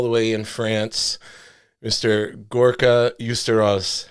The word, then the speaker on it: Gorka Uztarroz: Gorka Uztarroz. How you doing today, sir? Perfect. I pronounced it right?